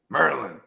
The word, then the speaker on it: Maryland: Marin on my mouth it's funny I said Merlin because that all my homies from from DC Merlin they said Noah bro you're saying it wrong meryland oh okay word like